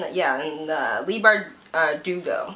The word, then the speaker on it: Leigh Bardugo: So I will be reading this, and Leigh Bardugo, that's how you say it.